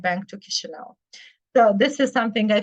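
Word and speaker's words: Chișinău: you also say the capital of mova is pronounced kisho H because sometimes people say chish so the correct name is kisho and also the country is called mova I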